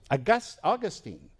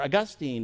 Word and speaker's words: Augustine: name, Origen, Thomas Aquinas, Augustine, or Augustine as some of us might pronounce it, all concluded that sex